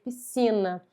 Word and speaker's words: piscina: Duas letras que formam um único som. É como se esse S aqui não existisse, como se fosse só o C. Piscina.